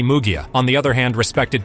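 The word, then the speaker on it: Munguía: Jaime Munguia, note to editor, pronounced as Jaime Mugia, on the other hand respected Canelo, so he got the chance to face Alvarez this year.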